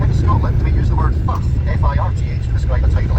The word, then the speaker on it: firth: In Scotland, we use the word firth, F-I-R-T-H, to describe a tidal estuary. So that there is the Firth of Forth.